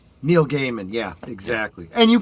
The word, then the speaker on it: Neil Gaiman: Neil Gaiman. Yeah, exactly. And you pronounce it correctly.